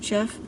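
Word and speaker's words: Geoff: by the name of jeff castellucci and it's spelled with a a g e o f f so it's like an old old world spelling of jeff he is amazing he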